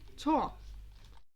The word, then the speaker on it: Thor: your stuff there is frick and tor not floor tall ignore the age it's silent or i don't know